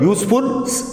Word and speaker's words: useful: So this is the wrong use, because useful, again here useful, we can say the pronunciation of the word is year.